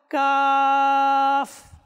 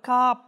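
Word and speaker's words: قاف: তো আমরা মাদানী চ্যানেল দর্শকবৃন্দ, আমরা যারা এতদিন পর্যন্ত কাপ এভাবে ভুল উচ্চারণ করে আসছি, তো আমরা এই অনুষ্ঠান থেকে এই সবকটাও নিয়ে নিই। এটা কাপ না, কিংবা কপ না, এটা হচ্ছে কাফ। লাস্টে ফা রয়েছে, কি রয়েছে?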